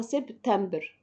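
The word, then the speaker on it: septembre: ست ست دي بتاعه سبعه بكتبها هنا وبنضقها سبتمبر صح كده تمام بس ما نلخبطش ده سبعه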